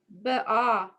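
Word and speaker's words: באהבה: So it's Be'ahava. yes. Uvaruts. 1 second. Uvarutson. Yep. Veshabat. Mm-hmm. Kadsho. Yep. Bahava. Is that right? It's be'ahava. Almost right. Be'ahava.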